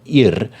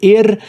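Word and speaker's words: Yr: discovered a band on black metal promotion called IR uh they have got a EP out called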